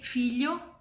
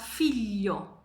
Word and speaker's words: figlio: to tell you is that these three sounds, y, ny, and sh, when are between two vowels, are pronounced longer. So we don't say figlio, but figlio, but we don't write this.